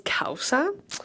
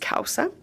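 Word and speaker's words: causa: And then my other favorite is Kaussa which it's spelled C A U S A but it's pronounced Kaussa.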